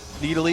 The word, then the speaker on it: Nidalee: And it was okay, look, we want to pronounce the champion Needly.